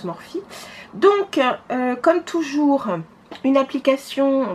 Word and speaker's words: Morphe: Morphe, ça s'écrit Morphe, mais enfin je sais que ça se prononce Morphe.